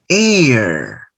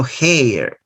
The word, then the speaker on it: heir: heir an honorable idea notice that this word starts with the letter h silent letter so you start with a vowel sound hour no digo